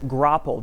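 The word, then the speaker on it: graupel: eventually that falls out of the sky as gropple g-r-a-u-p-e-l that's how you spell it and if you try to type it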